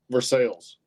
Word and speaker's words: Versailles: How do you pronounce it? Versailles.